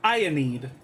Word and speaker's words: Aenid: Aenid is pronounced Ionid.